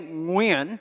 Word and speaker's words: Nguyen: Growing up as a Vietnamese immigrant and refugee kid in America in the 1970s and 80s, no one could say Nguyen, which is how it's actually pronounced in Vietnamese.